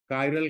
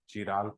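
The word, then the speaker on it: chiral: तो इसको कहेंगे कायरल, कायरल कार्बन, या कहीं पर चिराल पढ़ते हैं, नहीं कायरल वर्ड पढ़ा, कायरल कार्बन हो गया। एसिमेट्रिक कार्बन कहेंगे। अब जैसे क्वेश्चन होगा ब्यूटेन टू ऑल, कायरल, वही तो पढ़ा, प्रोनाउंसिएशन कायरल ही होगा, एसिमेट्रिक कार्बन।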